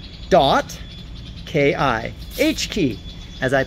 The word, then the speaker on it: H.Ki: world's shortest domain three characters H dot Ki H key as I pronounce it and that's heartbeat and that's our